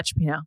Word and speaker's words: cioppino: He posted or came up on my TikTok feed of him cooking, I don't know how to pronounce it, but cioppino, is that how you say it? Yeah, cioppino.